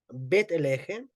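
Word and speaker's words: בית לחם: significa Belén en hebreo es llamada bet Legend bet elje es la casa del pan así se traduce fue transliterado como Belén al español ya pero la riqueza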